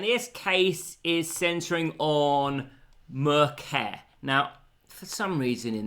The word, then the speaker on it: Merceh: It's simply Merceh. I think it's pronounced that way.